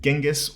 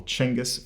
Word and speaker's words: Genghis: the game grandson of the great genghis or changus for you pronunciation sticklers out there kubla khan was the